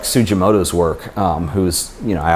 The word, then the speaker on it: Sugimoto: But I think much like Sugimoto's work, who's, you know, I obviously, or Sugimoto is how you pronounce it, who I covered in a couple